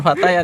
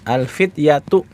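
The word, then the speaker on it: الفتية: Wah, bukan fatayat ya. Kalau fatayat itu adalah jamak dari apa? Pemudi. Ini adalah jamak dari fatah. Alfat. Pemuda jamaknya alfityyatu. Ya, kalau fatayat itu huruf ya-nya panjang ya. Panjang. Terus t-nya ter terbuka bukan ta marbut. Alfatayatu. Nah, kalau ini yang pendek tnya ta apa? Ta marbutah. Bacanya alfityyatu.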